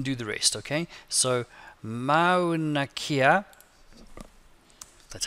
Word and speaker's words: Mauna Kea: So Mauna Kea. That's how you say it. New paragraph. Insert. Online pictures. And I forgot how to spell Mauna Kea.